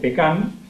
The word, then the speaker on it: pecan: En el caso de Argentina, la forma de mencionarlo es pecan, con acento en la A, y se denomina indistintamente tanto al árbol o al cultivo como al fruto seco.